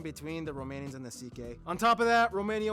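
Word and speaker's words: Székely: Yes, that's how you pronounce it. CK.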